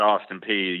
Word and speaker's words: Austin Peay: Yeah, I mean, that Austin Peay, you said it right.